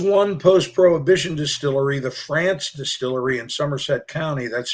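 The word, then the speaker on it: Frantz: yes there was one post prohibition distillery the france distillery in somerset county that's spelled f-r-a-n-t-z it started it started as the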